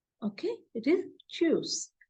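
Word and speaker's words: tschüs: similar to English then for by it is shoes okay it is choose t s c h u s but U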